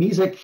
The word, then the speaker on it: mesic: So, Charlie, on one of your graphs, there was a mesic forest. It was M-E-S-I-C. Can you explain what that is? Yeah, and sometimes pronounced mesic as well.